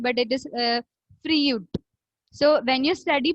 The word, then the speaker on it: Freud: We usually pronounce it as Freud, but it is Freud.